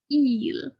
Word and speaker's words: il: be careful okay eel okay it's more like you're opening your mouth a lot more e just sounds like you're doing a really strange big joker smile or something yeah eel so watch out for that pronunciation so your first activity